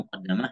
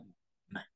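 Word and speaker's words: مقدمة: Terdapat dua nuskah ya, muqaddimah, muqaddamah, tetapi yang paling masyhur itu kita bacanya muqaddimah.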